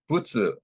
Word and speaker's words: Butsu: Butsu is the Japanese way of pronouncing Buddha, which literally means a being who has awakened.